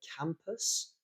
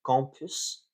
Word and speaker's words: campus: um now uh uh another one that I had with the the sound a uh was uh campus so the the area in which a university is uh that was pronounced compus um but again compus